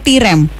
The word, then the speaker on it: Tirem: Iya, bacanya Tirem atau Tirem?